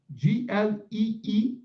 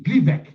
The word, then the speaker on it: Gleevec: Gleevec. Gleevec. So the retail price for this drug is $2,502.50 for Gleevec, the original drug or the brand drug.